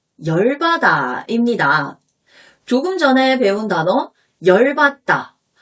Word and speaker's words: 열받다: 조금 전에 배운 단어 열받다. 아, 열받아. 이 열바다를 발음 나는 대로 쓰면 열바다죠.